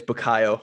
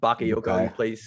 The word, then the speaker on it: Bukayo: By the way, it's Bukayo, not Bakayoko.